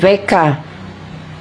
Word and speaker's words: Wecker: Kung ano siya, W-E-C kay ang W-V bitaw na pag-pronounce, no? Nakibalo man mo. Der Wecker.